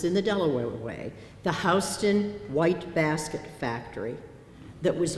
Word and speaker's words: Houston: Houston. Now, if you come from Texas, you pronounce that Houston. But if you come from Delaware, you pronounce that Houston. Houston is Houston in Delaware.